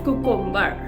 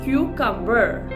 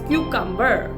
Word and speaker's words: cucumber: The pronunciation for this word is cucumber. The first syllable has to be saying in such a way that's Q and it's cumber. That's cucumber.